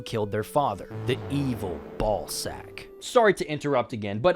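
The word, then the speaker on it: Balzack: their father, the evil Ball Sack. Sorry to interrupt again, but I understand it's probably supposed to be pronounced Bzac, but come on. This guy's name sounds likeing ball sack.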